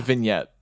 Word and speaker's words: vignette: vignette vignette you don't you don't pronounce the G typically the first the first scenario it's a vignette vignette stops yeah I